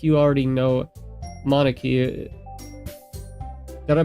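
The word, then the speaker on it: Monika: And it's it sounds like you already know Monarchy. Did I pronounce that one right?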